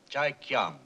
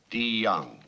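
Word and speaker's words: Deong: Chai Kyang. The name is DeYoung, sir. It's pronounced with a D. DeYoung.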